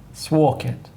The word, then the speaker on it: Sworkit: I must take leftover sworkit spell it s wo RK i t swauk it work it butts work it work it with an S that's what it's work